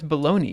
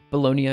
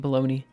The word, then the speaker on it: Bologna: in the us um bologna i think yeah i think that's how most that's how it should be pronounced i guess but my bad i'm just an uncultured swine um uh hence why i was calling it baloney anyway um what do